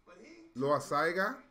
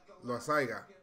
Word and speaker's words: Loaisiga: Is it Loaisiga? Loaisiga. Did I pronounce it right?